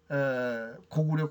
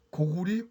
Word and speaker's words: 高句麗: 제가 오늘 이 1920년 조선어 사전 이후에 고구려 고리로 확정됐고 이전에는 고구리 고리로 해야 된다는 그 원전을 제시한 겁니다.